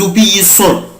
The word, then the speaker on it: obéissons: j'obéis، tu obéis، tu obéis، il obéit، elle obéit، nous obéissons. nous بنطق سنة زد.